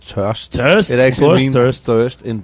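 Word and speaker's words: Tørst: it's called TST it's spelled t but it's pronounced TST it actually means thirst in Danish uh we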